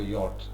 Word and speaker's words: yacht: YACHT you use for a small boat which has sails. Okay, പായ്ക്കപ്പൽ എന്ന് പറയും ചെറുത്, which people use for pleasure trips. It's called a yacht, Y-A-C-H-T. It's pronounced yacht.